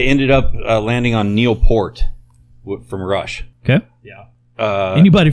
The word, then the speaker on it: Peart: But I ended up landing on Neil Peart from Rush.